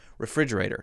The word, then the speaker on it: refrigerator: There's the re, and then the fr, that is very hard because the R is right beside the F,